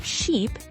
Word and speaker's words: sheep: Did you notice how your mouth position changed for sheep? E, your lips are more spread and the sound is longer.